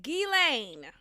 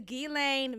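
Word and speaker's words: Ghislaine: it's gilan it is gilan Maxwell I'm just really tired of everyone saying gasoline gizan gizy Lane it's gain it's it's really not that hard guys the S is silent it's French it's FR okay F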